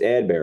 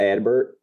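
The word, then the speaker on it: Adbert: know a little bit how do you say elsalay's first name by the way bad bear it's ad Bear right I think so not advert I would say Ad bear would not say Edward correct uh well the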